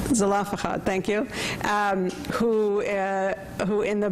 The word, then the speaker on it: Zelophehad: Some people say Zelophehad, thank you, who in the Bible are the ones who insist that women should be able to inherit as well.